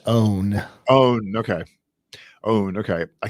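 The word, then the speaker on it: onn.: brand we'll offer access right now it is pronounced own own okay owned okay i keep you back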